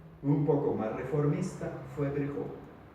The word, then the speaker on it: Virchow: Virchow, pero como es alemán se pronuncia Virchow. Entonces, Virchow.